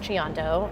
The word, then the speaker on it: Lachiondo: last name is a little bit hard to pronounce it's Lando and people always ask me how do you